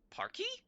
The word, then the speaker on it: parquet: Parky? It's pronounced parky?